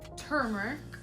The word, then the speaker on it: turmeric: for the yellows and oranges yellow Brazilian clay turmeric is pronounced that way yes um you could actually